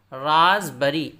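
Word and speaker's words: raspberry: इस तरह राजबरी, राजबरी, RASP, पी को नहीं पढ़ेंगे, बरी, राजबरी, रसभरी या तूते फिरंगी।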